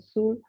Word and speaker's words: Soule: So it's spoken in Sul, it's pronounced in Sul, in Basque in Suberua or Shiberua, historical province.